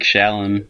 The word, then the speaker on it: Xiaolin: characters at least yeah Chad Xiaolin chronicles doesn't have a J in it shut up wrong with you shut up let me pronounce these wrong Joanne a Shaolin make Shaolin look at SH its XE ow yeah there you go what one